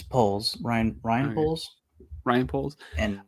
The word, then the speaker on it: Poles: was the scapegoat for how do you pronounce that Poes or poles it's poles Ryan Ryan poles Ryan